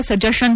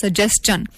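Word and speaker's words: suggestion: देखें तो हमें से 99 पर लोग लोग इसको सजेशन पढ़ते हैं लेकिन basically it is pronounced as सजेन अ इसी तरह से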